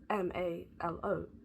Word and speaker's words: Malo: It's spelled Mo like M A L O like halo but with a M. But it could be malo like marshmallow. But I think it's MO. Ran by MO Events.